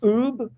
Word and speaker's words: Ub: I don't know how to say his name, Oob Iwerks? Oh, Oob Iwerks, right.